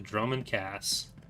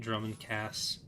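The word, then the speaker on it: Dromund Kaas: I got comment flack for calling it Drummond Cass. But I'm still gonna do it, because, made up word. I get people trying to correct me on my pronunciation of Viscount sometimes, saying, actually it's Viscount.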